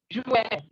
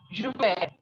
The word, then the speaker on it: juin: June in French is Juin. Listen again. Juin. J is je in French and I-N is an. So we have Juin.